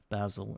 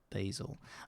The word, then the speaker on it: Basil: just think that I'm some kind of Basil instead of Basil. I tried to add like an amazing word to my nickname, like Basil the Amazing, because it rhymes, so people have a clue that I tried to make it sound like Basil.